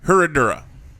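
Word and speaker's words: Herradura: that's what i'm saying herodura reposado i kept putting an s where there is no s regardless we're not here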